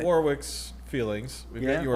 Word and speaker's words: Warwick: Warwick's feelings. We've Yeah. got your Or feelings. Warwick. Yeah. Okay. Why do you keep saying Warwick? What? Warwick. Your name's not Warwick.